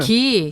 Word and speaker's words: 상: 상 이렇게 발음하는 거거든요. 그래서 이거는 상이라고 읽어야지 샹이라고 읽으면 안 돼요.